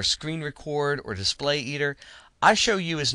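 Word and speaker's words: iShowU: that I prefer to use is one called I show you and it's spelled lower case I big S little H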